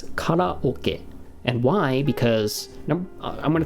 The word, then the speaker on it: karaoke: empty in japanese and it's not pronounced carrie as a matter of